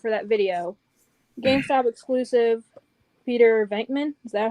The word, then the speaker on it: Peter Venkman: I'll give away, spoiler alert for that video, GameStop exclusive Peter Venkman.